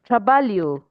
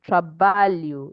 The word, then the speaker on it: trabalho: When you have LH, it sounds like Lee, like there's one invisible I there. Okay, so it is Lee, and that is trabalho.